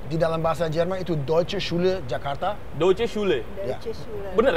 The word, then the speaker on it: Deutsche: Nah, sekarang kita berada di Deutsche Schule Jakarta, atau DSJ. DSJ. Nah, karena saya kesulitan mengucapkannya, kan? Mungkin Philip bisa menunjukkan pengucapan yang benar? Eh, Philip? Dalam bahasa Jerman, itu adalah Deutsche Jakarta.